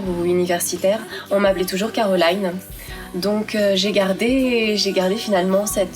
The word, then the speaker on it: Carolyne: Caroline, donc avec un Y, ça se prononce Caroline en anglais.